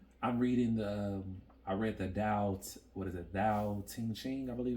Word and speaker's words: Tao Te Ching: I'm reading I read the Tao Te Ching, I believe it's pronounced.